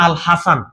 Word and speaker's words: আল হাসান: ওকে, এখানে লেখা আছে আল হাসান, এটা হবে আল হাসান, মানে তার প্রকৃত নাম হচ্ছে আল হাসান। ইউরোপিয়ানরা যখন উচ্চারণ করে হ্যাজেন হয়ে যায় আর কি।